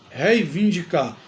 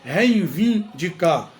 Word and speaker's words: reivindicar: erramos bastante o verbo reivindicar reivindicar tem gente que diz reinvindicar coloca o i e